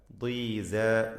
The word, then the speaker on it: ضيزى: സ അതും അതിൻ്റെ അലിഫും തർക്കീഖ് ചെയ്യേണ്ട അക്ഷരങ്ങളാണ്, തഫ്ഖീം അല്ല. ദീസ. സോ പറയരുത്, സ.